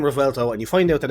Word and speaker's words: Revuelto: This is the 2023 Lamborghini Revuelto, and it is pronounced Revuelto. I did have to look it up. I originally kept on saying Revuelto, but no, it's Revuelto.